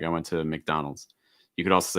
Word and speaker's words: McDonald's: mac like mcdonald's but it's not mac it's mick like what's the short i sound mick mick mcdonald's mcdonald's okay also usually